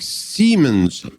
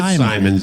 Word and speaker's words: Simons: Doc Siemens. Is that how you say it? What is it? Doc Simon. It's Simons.